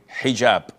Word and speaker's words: hijab: And I know in France they don't pronounce the H when it is in the beginning of the word as in hotel or but this is an Arabic word.